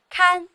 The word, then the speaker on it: 看: 第一声，看，看家，看门的看，嚣，嚣张，叫嚣。